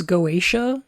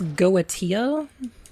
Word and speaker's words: Goetia: I said Getica? I think that's fine. You can do that if you want. But I think it's Goetia.